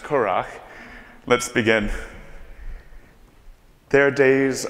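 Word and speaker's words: currach: So now knowing that information and knowing that it's pronounced Curach, let's begin.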